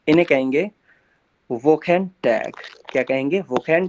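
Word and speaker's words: Wochentag: इनको जर्मन में कैसे प्रोनाउंस करना है, क्या करना है, वो समझते हैं। इन्हें कहेंगे वोकेन टैग। क्या कहेंगे? वोकेन टाग।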